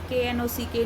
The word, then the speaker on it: knock: So, children, read the given word KNIFE knife, KNOCK knock, KNUCKLE knuckle. So children, here you will see that K is silent in all the words.